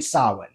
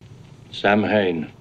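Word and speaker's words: Samhain: by sacrificing children's during Sinn the Pagan C celebration marking the arrival of winter and Cochran actually pronounces the word correctly unlike Dr Lumis Sam Hayne seizing the opportunity Dr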